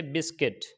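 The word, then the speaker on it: biscuit: you silent हो जाएगा इसी तरीके से बिस्कुट बिस्कुट के अंदर यू के बाद आई वावेल्स में से है तो यहां पर यू साइलेंट हो जाएगा तो हम इसको पढ़ेंगे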